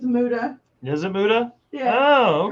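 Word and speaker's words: Muta: It's Muda.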